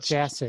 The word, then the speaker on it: Jasek: Jasek, is that correct? Jasek. Jasek. Oh, Jasek.